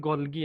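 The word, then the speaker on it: Golgi: আচ্ছা, গলজি body বিজ্ঞানী Camilo গলগি, অর্থাৎ উচ্চারণটা হচ্ছে গলগি আর কি।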